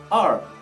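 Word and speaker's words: 二: R, R. Các bạn nhớ cong hết đầu lưỡi về phía sau.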